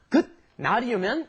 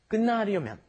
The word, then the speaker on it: 끝나려면: You don't pronounce that T there, do you? It turns into an N. It's not 끝나려면, it's 끝나려면, okay?